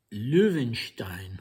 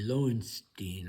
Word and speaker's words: Loewenstein: name of Gorchikov and Luvenstein or I guess the English pronunc pronunciation would be Loenstein or Loenstein.